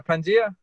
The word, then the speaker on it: Pangea: Yeah, Pangea.